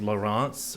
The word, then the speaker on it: Laurence: better about pronouncing Genevieve Genevieve Lawrence which is how it was pronounced because a lot of the times it wasn't spelled like Lawrence here it was spelled lar ance and I've just mattered